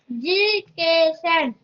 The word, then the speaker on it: education: Education. Very good. Education. It is like adorable. Okay. Yes. So education has 4 syllables. Education. Some people say education, but actually that you have to stress that a.